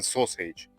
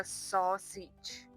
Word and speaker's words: sausage: Ну, chicken sausage. Вообще-то это sausage.